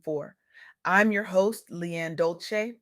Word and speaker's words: Dolce: I'm your host Lianne Dolce, pronounced dol-say, like sweet softness whispered in French.